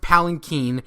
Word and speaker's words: palanquin: sees the palanquin and I know it's pronounced palin keen in the next scene they literally say it's pronounced palin keen but I'm gonna keep pronouncing a palanquin because uh bloody Americans